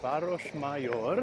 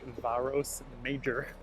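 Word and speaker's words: Városmajor: So now I'm at Baros Mayor. If you're trying to Google it, it's pron or it's spelled like varos major.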